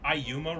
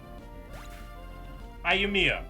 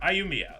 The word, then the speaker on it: Ayumiya: Or am I supposed to say, is it Ayuma, or is it Ayumiya, or is it Ayumiya, or is it Ayumi? How do I pronounce it? Ayumiya? Ayumiya, that's the way to pronounce it.